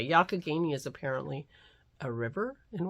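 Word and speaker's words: Youghiogheny: Kay helped me because I had no idea how to pronounce yakagini yarn y-o-u-g-h-i-o-g-h-e-n-y and I struggled for 10 minutes on that podcast trying to figure out and I never got it right and she told me how to pronounce it because she grew up in that area yakagini is apparently a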